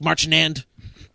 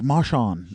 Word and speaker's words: Marchand: We're going Mike Montero, Nic Marchand. I don't know how to pronounce his last name. Marchand. Yeah, sure. Marchand. And not just your name, Nick. Jivin. Wait, isn't that French? Marchand. That's French.